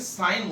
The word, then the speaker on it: sin: पहला है साइन theta, सिन मत बोल देना बेटा, SIN, सिन नहीं बोला जाता है, SIN साइन बोला जाता है।